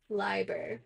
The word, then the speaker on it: Leiber: I'm saying it right I always want to say Liber me too I that ey should be long right I don't know I don't know what is English wrong what is the English is e i is Li yep I E is Leap yep that's proper pronunciation struggle with English as